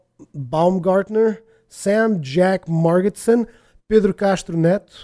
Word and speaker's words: Castro Neto: Jack margetson Pedro castronet he's actually Brazilian I I that's what the reason why his name sounds so different is because I actually say his name in Portuguese otherwise I would say Pedro Castro Neto this wouldn't really make a lot of sense but yeah uh bartek